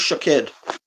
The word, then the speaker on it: Shaked: My name is Shaked. That is how you can pronounce my name.